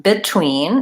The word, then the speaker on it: between: in the words between obviously I'm talking about this e and not these this one is e but between is how we actually pronounce that we say I'm between two people rather than between similarly words like beside